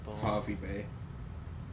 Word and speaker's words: Hervey Bay: about that but I remember hervey Bay Sydney Harvey Bay Harvey Bay thank you it's not spelled it but it's pronounced I saw a Sydney oef and the